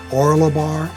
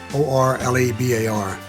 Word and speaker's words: Orlebar: I think it's pronounced Orlebar, O-R-L-E-B-A-R, Brown, Orlebar Brown.